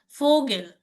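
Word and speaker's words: Vogel: ভি, দেন ফাও, এটার উত্তর ও, ভি, হুম, বি, ও, ওর উচ্চারণ ও এর মতোই হয়, রাইট? গে, জি, এ, এ, ই, এল, এল, লাইক ফোগেল, ফোগেল বেরোয়েটেড পাখি।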